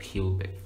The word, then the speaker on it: QBING: It's actually QBING, but Q is just the letter Q. So when pronounced, it's like QBING.